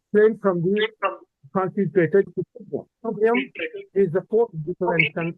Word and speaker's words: Tubhyam: I told you that here the is wrongly written. That is why I explained to you from the translator.